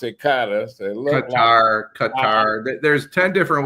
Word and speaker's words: Qatar: They pronounce it Qatar.